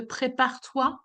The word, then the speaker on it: prépare-toi: bit pickish on the prépare-toi? Ouais, j'ai compris. Je comprends. Because if you pronounce the E, I would get confused with préparer. Hmm. Okay, that's why your sound should stop the R.